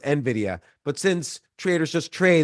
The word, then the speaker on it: Nvidia: tell you're a Trader at heart because Traders pronounced Nvidia Nidia and Nvidia is pronounced Nvidia but since Traders just trade they don't have